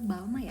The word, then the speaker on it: Balmain: Nyebutnya Balmain. Nah sekarang kalau kalian udah tahu, jadi bacanya yang benar yaitu Balmain ya.